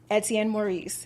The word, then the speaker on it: Etienne Maurice: I'm speaking to community activist, entrepreneur, and philanthropist, Etienne Maurice.